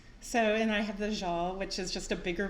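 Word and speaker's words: sjal: little scarf um so and I have the jeal which is just a bigger version of the same thing and that's spelled s-j-a-l yes we also have it here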